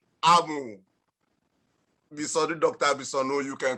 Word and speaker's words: Amu: you should remember that our composer was very particular about the correct pronunciation in the tone-tune relationship. So the correct name, we've heard how Misonu pronounced the name. Amu, Amu, Amu, the name is what? Amu.